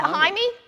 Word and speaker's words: Jaime: Is it Jaime, Neil? Yeah, Did Jaime. I said it right? I'd normally say Jamie, but Yeah. hey, you know, that's the Australian in me.